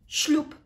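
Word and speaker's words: ślub: the as letter B we pronounce it as letter p because that's what happens in the phonetics of this marvelous Polish language so shloop number 10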